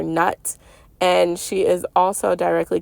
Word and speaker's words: Nut: Newt is how you pronounce it, like Newton, okay? But a lot of people call her Nut, and she is also directly connected to Neath.